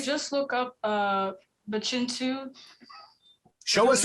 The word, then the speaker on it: Pihcintu: look up uh the chintu show us how it's spelled because it isn't spelled how it sounds it's p i h